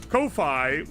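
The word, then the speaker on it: Ko-fi: Kofi, which is apparently just pronounced coffee, is uh a good one though.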